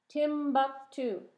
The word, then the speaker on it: Timbuktu: too like constantinople and timbuktu constantinople and timbuktu can you say that constantine oh paul how many syllables is that constantin oh pull five syllables tim buck two tim two three syllables say say what does